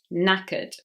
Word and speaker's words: knackered: Knackered. Number 54, silent K at the beginning of this word, which is very common in English. No.